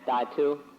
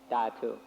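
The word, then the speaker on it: dhatu: so i sometimes say datu in thai it's pronounced tatu so that's why i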